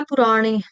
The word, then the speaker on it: पुराणी: प्रसता पुराणी ठीक है पुराणी का उच्चारण मैंने बताया पुराणी बाण वाला ण करेंगे फिर आ जाएगा उसका उच्चारण पुराण भाव में जो माता